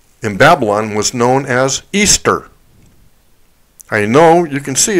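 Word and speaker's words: Ishtar: Semiramis, Nimrod's wife, in Babylon was known as Easter. I know you can see it on this chart. It's spelled I-S-H-T-A-R, but it's pronounced Easter.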